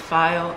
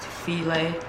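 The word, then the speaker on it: filé: You can add your filet. Okay. And you want to add and taste, because you can actually add too much of this. And even though it looks like it's file, it's pronounced filet.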